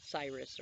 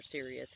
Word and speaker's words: Sirius: And I feel like there's going to be some sort of connection with Cyrus or Sirius, however you want to pronounce it. I prefer Cyrus, but that's the dog star and its constellation.